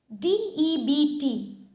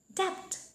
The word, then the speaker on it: debt: Ami to sobe jano debt boli. But that is also wrong. Yet B to silent hoye ase. Etu ki hoye jabo? Correct pronunciation to hobo debt. Correct pronunciation to hoise debt.